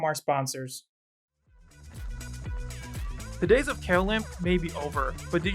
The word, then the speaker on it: Mailchimp: So, when you're ready to grow your business, try Mailchimp. And yes, that is how you pronounce it.